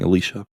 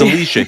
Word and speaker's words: Elysia: Well, I hope everyone has a lovely time saying Elysia, because it's Elysia here. Yes, it's Elysia. Don't mess it up.